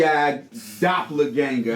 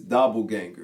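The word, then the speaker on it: doppelgänger: They call you TI Doppler Ganger. I probably said that wrong in the the correct pronunciation is doubleganger.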